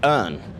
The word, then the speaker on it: Urne: I say Urne.